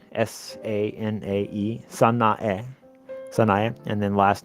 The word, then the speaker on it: Sanae: Her first name is Sanae, S-A-N-A-E, Sanae, and then last name is Takaichi.